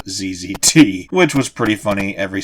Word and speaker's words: ZZT: of the Jungle, although he pronounced it ZZT instead of ZZT, which was pretty funny every single time he did it.